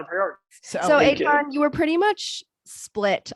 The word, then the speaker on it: Eitan: Yes, you can follow me on all the socials at Eitan, E-I-T-A-N. My name is spelled nothing like it is pronounced.